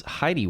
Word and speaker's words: Hedy: I believe she pronounced her name as Heidi West, but it was spelled Hedy.